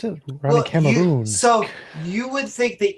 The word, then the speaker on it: Ronny Cameron: just want to make sure that I can pronounce this properly out loud because what's in my head, Ronnie Cameron? Yes. Sound fantastic. All right. Is there another way to pronounce it? Ronnie Cameroon.